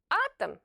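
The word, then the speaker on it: атом: and follows the stressed syllable it will be pronounced like a very short a cosmos Cosmos the same is true with the word atam atam the letter O is not stressed and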